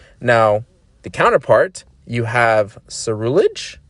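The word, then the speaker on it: Ceruledge: suru ledge or suruledge i just say it's a rulage because it's smoother i don't know just the way you i'm always i'm always pronouncing words that end with ledge like cerullage makes sense to me but if you want to say suru ledge and enunciate that by all means uh this one's also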